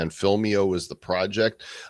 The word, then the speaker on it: Film.io: is film dot IO but make sure you pronounce it right filmio is the site Alvina welcome to the bed